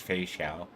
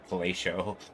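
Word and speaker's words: Feixiao: Every time I go to pronounce it, it's Fei Xiao. I always say Fellatio. Totally changes the meaning of that name.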